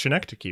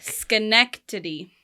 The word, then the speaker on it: Schenectady: bat I'm gonna say Chen neck Daddy New York so Schenectady Kade what do you think it's pretty I'm pretty sure it's connected key right the correct pronunciation is Schenectady Schenectady Schenectady Schenectady in